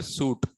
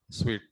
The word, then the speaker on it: suite: call it as a suit scyt don't call it as a suit call it as a sweet not s double e t not that that's what just s-u-i sweet okay clients always say